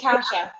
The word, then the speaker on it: Kasia: pronounce her name correctly close kind of close it's kasha oh kasha okay yeah